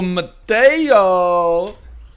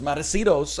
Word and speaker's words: Matosinhos: health power up Oh Mateo who is not Mateo it's matosinhos I apologize I didn't mean